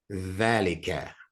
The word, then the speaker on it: ذلك: Can you say that with the DH ذلك sound? Yeah. Dhalika. ذلك. Yeah. And even as you're pronouncing the, it's kind of the sound that you would make if your two front teeth were missing.